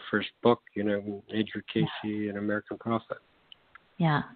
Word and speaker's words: Cayce: you know uh okay first first of all casey is spelled c-a-y that's uh you know a lot